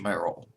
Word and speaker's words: Merrill: Or George Merrill, like Merrill Lynch. George Merrill. That's how you pronounce it.